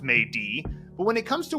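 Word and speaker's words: 美的: in beautiful and this character and it is pronounced May D but when it comes to words aren't proper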